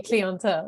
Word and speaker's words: clientele: others I'm still at the way you pronounce clientele it's definitely cleanta yeah yeah so it